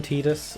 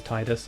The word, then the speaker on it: Tidus: one of my favorite final fantasy protagonists i pronounced his name tidus i know some people pronounce it as titus and i will agree titus does sound better